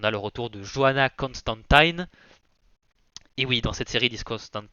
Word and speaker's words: Constantine: Et voilà, on a le retour de Joanna Constantine. Et oui, dans cette série, ils disent Constantine, il me semble que c'est la prononciation originelle et ça a été modifié avec le temps.